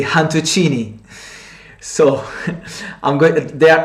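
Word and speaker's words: cantuccini: and they call it han tuccini they don't pronounce the letter c they pronounce they pronounce it with h so rather than kantuccini they say han tuccini so i'm going they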